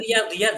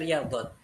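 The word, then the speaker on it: رياضيات: riyadiat ee oh ini riyadiyat ya saya tadi bacanya riyadat riyadiyat itu matematika kalau riyadat itu adalah ee olahraga ini riyadiyat ya di sini riyadiyat itu matematika Nah, ee lahibur riad naam berarti bukan laam.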